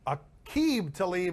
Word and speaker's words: Aqib Talib: Aqib Talib is how we're pronouncing it, and they've got a history.